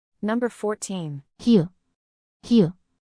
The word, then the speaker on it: 히읗: 히읗, 히읗, 흐, 흐. Similar to h and hat. It's a soft, breathy sound and can slightly change the pronunciation of the following vowel.